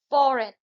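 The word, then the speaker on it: foreign: फॉरेन, इसमें जो है जी साइलेंट है.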